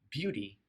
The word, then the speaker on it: beauty: beauty whenever you can beauty is the noun form of beautiful notice how the T sounds in this word beauty of course you could